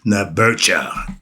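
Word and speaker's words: Neberdjer: we call the all encompasses his name is nebera NE e b e r d j e r is spelled nebera and the origins of the Trinity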